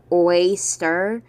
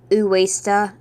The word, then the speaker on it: Westar: Also, for pronunciation, I call him Westar, because to me when he says Uesta, in Japanese, it sounds like saying waster with an A in the middle of we before the stir.